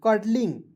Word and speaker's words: cuddly: एंड यहां देखेंगे CUDDLY कर्डली पढ़ेंगे, कुडली नहीं पढ़िएगा।